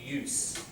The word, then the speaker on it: use: Just pronunciation, cell phone use. The noun is a s. So you use a cell phone, verb.